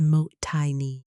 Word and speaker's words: Mottainai: Mottainai, pronounced as mot-tai-nee, there is no exact English translation, but the